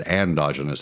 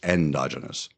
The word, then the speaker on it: endogenous: endogenous retrovirus retroviruses and I said it wrong I said endogenous and it's not it's endogenous remember we talked about